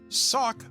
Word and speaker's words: socc: It comes from an Old English word, sock, which sounds the same but is spelled S-O-C-C, and it means slipper or light shoe.